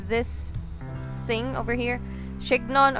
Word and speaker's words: chignon: Chignon or chignon. I prefer calling it chignon. Sounds like freaking onion, but yeah, it's kind of like French word, right?